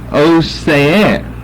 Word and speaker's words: Osea: Then, whenever you turn over to the New Testament, then you have the name Osea.